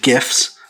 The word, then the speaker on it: GIFs: Pages were covered in marquees, animated GIFs, that's right, I pronounce it with a hard G, you may pronounce it with a soft G, I don't know, and it was incredibly important to have a guest book.